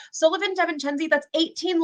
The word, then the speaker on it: Devencenzi: But I got married last year and I got blessed with this beautiful new last name that no one can pronounce. So I am Devencenzi.